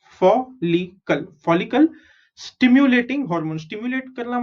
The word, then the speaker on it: follicle: FOL, fall. LI is Li, CLE is Kal, follicle.